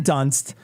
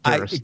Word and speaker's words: Dunst: in any case, Kristen Dunst is, and I know I mispronounced it, and I wanted to. I Kristen- did it on It's purpose. Kristen Durst.